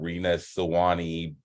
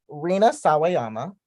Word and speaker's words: Rina Sawayama: Rina Sawani, Beyonce, Lord. You don't have to mispronounce someone's name to be rude to me, but continue.